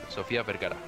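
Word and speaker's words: Sofía Vergara: Sofia Vergara.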